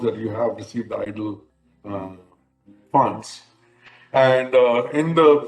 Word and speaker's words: EIDL: you have received a it is spelled economic injury disaster loan eidl it is abbreviated as a eidl but it is pronounced as idle idol loan if you receive